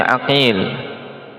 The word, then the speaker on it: Aqil: Qala wafaqatil asmaqon waktalafil abau nutqan mailafiha khatan ka Muhammad ibni aqil bifathil ain wa muhammad ibni uqail bidammihab ini sekarang kasus lain